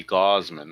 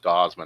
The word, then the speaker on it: Gausman: Might be Gauzeman. I'm not sure. Might be gauze like you put on a wound. I'm thinking it's pronounced Gauman, not Gaussman. I think it's Gauman.